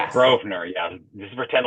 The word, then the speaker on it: Grosvenor: It's Grovener. The S is silent. Grovenner. Yes. Grovener.